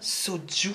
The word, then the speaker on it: Soju: Ça se prononce bien Soju.